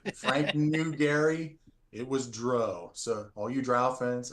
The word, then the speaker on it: Drow: The most important pronunciation thing is it's Dro, not Drow.